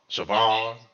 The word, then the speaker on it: Chauvin: Chauvin.